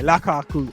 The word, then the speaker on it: Lukaku: Lukaku, is that how you say it? Yeah, Lukaku.